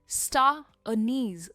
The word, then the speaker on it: star anise: यहाँ पे जो प्रोनाउंसिएशन का स्ट्रेस है वो दो जगह आता है, स्टार और नीज पर, स्टार नीज।